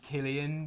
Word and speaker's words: Cillian: Like Killian Murphy. It's actually Killian, but I'm What's the last name though?